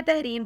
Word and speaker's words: Tehreem: नाम है तहरीम फातिमा।